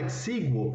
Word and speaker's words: exíguo: A palavra exíguo, ela tem acento aqui, acento aberto na antepenúltima sílaba, né? Porque na verdade, exíguo tem 1, 2, 3, 4 sílabas e não 3, tá bom?